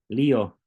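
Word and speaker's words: λύω: visto o lío Perdón lío Recuerda que lanza se pronuncia como como la i si estás estudiando griego en español pero si estás estudiando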